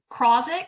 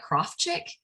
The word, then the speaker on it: Krozik: It's Krozik is what we say. Krozik. But that's actually not the correct pronunciation. I think it's more like Krofchik.